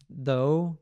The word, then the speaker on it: though: have through and then thorough though that are o sound and then thought that's